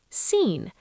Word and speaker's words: scene: Scene. S c e n e. Just scene. The C is having a day off.